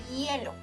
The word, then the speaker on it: hielo: The best word to practice the sound is hielo. Remember, the H in Spanish is silent, so this word starts with the diphthongo.